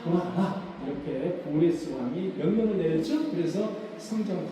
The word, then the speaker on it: 고레스: 고레스 왕과 결혼하는 겁니다. 고레스 왕의 부인이 카산다네라는 사람입니다. 자, 카산다네를 우리는 키루스 2세라고 이야기합니다. 우리가 역사 시간에 배운 것은 고레스라는 발음을 배우지 않고 키루스 2세를 배웁니다. 그래서 키루스 2세가 고레스 왕이다 이렇게 여러분들이 이해하시라고 적어놨어요.